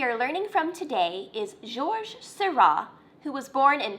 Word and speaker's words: Georges: Now you may have noticed from the intro slide that his name looks like George with an S on the end of it, but it's not pronounced Georges. His name is pronounced Georges.